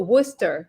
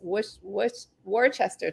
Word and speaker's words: Worcester: interested in Massachusetts oh Worcester Worcester yeah maybe I know when I got here I pronounced it as warchester too but here I say Worcester accident yeah uh no